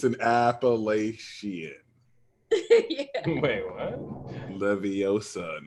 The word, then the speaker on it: Leviosa: Leviosa, not Levisar.